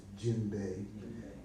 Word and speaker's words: djembe: So a lot of the language there is spoken in French, and D-J-U-M-B-I, djembe, is this pronounced. A lot of people say djembe or something. No, it's djembe, and because it's French.